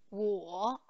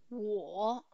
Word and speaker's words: 我: Io, 我 il terzo tono, 我 tu, 你 sempre il